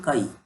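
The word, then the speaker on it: χ: इसको हम लोग प्रोनाउंस करते हैं काई ए एंड काई बी।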